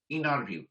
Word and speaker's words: interview: an interview so interview the term is sometimes pronounced as inner view so this t is silent and it is called